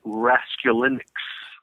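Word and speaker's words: Raskulinecz: off bro it is it is the correct pronunciation is rescue linux right of course Dylan X Y a and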